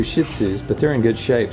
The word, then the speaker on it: Shih Tzu: And The word is Shih Tzu. Shih Shih Tzu. Tzu. Shih Tzu. Shih Tzu. Shih Tzu. Okay. There is no T there. The T is silent.